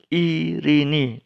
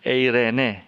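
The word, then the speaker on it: εἰρήνη: dalam bahasa Inggris jadi i nih damai sejahtera bukan Irene ya er enak tuh transliterasi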